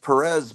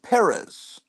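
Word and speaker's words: Pérez: it's like and like everyone says George George Perez but it's George Perez George yeah you got to put the syllable you got to put the emphasis on the first syllable so you can pronounce it just right and and when you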